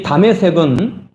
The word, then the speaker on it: 다메섹: 이 다메섹은 지금 그 10년 이상 동안 지금도 계속되고 있는 그 내전 중인 시리아의 수도 다마스쿠스의 그 수도의 히브리식 발음이 다메섹입니다.